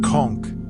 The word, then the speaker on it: conch: Konch, pronounced conchk, refers to the large marine mollusk that once thrived in the keys waters and gave its name to the island's residents.